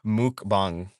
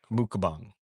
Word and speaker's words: mukbang: It's pronounced mukbang. Mukbang. I see. So like mukbang.